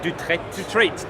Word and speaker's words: Dutrat: Vincent Dutrat, I think that's how you pronounce his name. Dutrat, that's it.